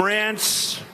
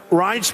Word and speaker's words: Reince: And I said before, nobody knew how to pronounce his name. It's a crazy name. They call him Rance. Steve Wynn just called him. He's still not pronouncing it right, Steve. But Reince Priebus, now everybody pronounces his name right.